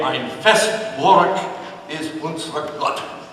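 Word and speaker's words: Ein feste Burg ist unser Gott: W's are B's, EI's are pronounced I, and it's a little bit more guttural. So if we want to say that, we say, Ein Festburg ist unser Gott.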